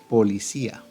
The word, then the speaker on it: policía: Pero observemos que estas no se pronuncian en una sola emisión de voz, sino que las sílabas van separadas. Policí y posteriormente se pronuncia la A. Policí, A.